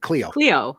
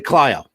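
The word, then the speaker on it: Clio: when somebody's out of the area because they pronounce it cleo yeah that's what i was gonna say and it's actually clyo right yeah well i'm from illinois and the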